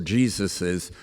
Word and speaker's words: Jesus's: Jesus parables or Jesus's.